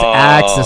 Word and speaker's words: Ax: cuz you probably they because sometimes people pronounce my name like access a ce that my name's Ax not access.